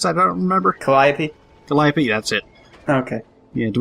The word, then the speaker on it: Calliope: How the fuck do you pronounce that? I don't remember. Calliope? Calliope, that's it.